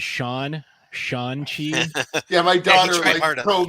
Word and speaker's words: Shang-Chi: go with would be Shang-Chi, because I think it's a fun film, and I watched it with the whole family, and everybody enjoyed it. I believe his name is Sean Chi.